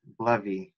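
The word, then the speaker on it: BLEVE: So we have another question from Corey Bishop asking, what is Blevy?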